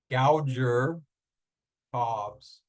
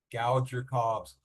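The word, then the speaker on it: Gauger-Cobbs: think even a slightly unattractive name, but it's pronounced Gouger Cobbs. Gouger Cobbs.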